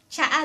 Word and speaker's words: Tsaa: and ----- For you, to tell me ----- "That is a tea," you can say, "Tsaa dayta." Tsaa (pronounced cha-a) tsa a dayta Tsaa is tea in Ilocano.